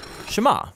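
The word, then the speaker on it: שמע: is hear or listen which in hebrew is pronounced shema that's where the prayer gets its name now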